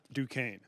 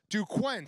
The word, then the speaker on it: Duquesne: He was calling it Duquesne, which phonetically speaking is still not right. He put the N in front of the S.